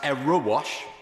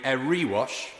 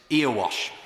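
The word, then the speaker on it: Erewash: of the members present it's pronounced erh or occasionally Awash but never under any circumstances ear wash and I look forward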